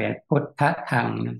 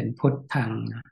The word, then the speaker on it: พุทธัง: ก็ ต้อง อ่าน เป็น พุทธธัง ถ้า เป็น แบบ นี้ พุทธธัง แต่ ต้อง ตัว ถูก ก็ คือ ต้อง มี ตัว สะกด ตัว ท ท ทหาร น เป็น ตัว สะกด ก็ เป็น พุทธัง พุทธัง สะระณัง คัจฉามิ งั้น